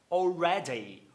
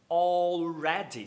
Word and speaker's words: already: A palavra já. Already. Already. Você vê que tem o D aí. E esse D tá entre duas vogais.